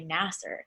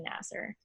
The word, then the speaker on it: Nassar: Larry Nasser pronounces it Nasser, right? Yeah. So then I was like, I think it's Nasser. I'm like pretty sure it's Nasser. Yeah. And then he's like, I don't know, I pronounce it Nassar.